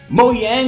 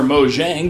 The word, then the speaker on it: Mojang: have to do so good on you Razer moyang or Mojang depending on how you pronounce it just released Minecraft 1.9 the very